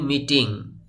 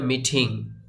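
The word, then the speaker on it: meeting: মিটিং, আমরা বলি মিটিং, কিন্তু এটার সঠিক উচ্চারণ হবে মিটিং। আপনি এই টিটাকে ঠ এর মতো করে উচ্চারণ করতে পারেন বা ড এর মতো করেও উচ্চারণ করতে পারেন, দুইটাই রাইট।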